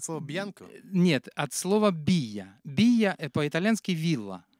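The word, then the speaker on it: villa: По-испански «вилла» — это «бия». Вот, двойная «л» читается как и краткая.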